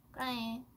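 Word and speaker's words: 꾸랑해: 크라잉. 제가 처음에 그거 들었을 때, 오, 오라해라고 하는구나, 귀엽다. 오라, 잠시만. 오라해? 이런 해? 지라해? 파라해? 크라잉? 존재죠. 크라잉이라고 말해요. 크라잉. 그 크는 그 되게 있는 거로 해주세요.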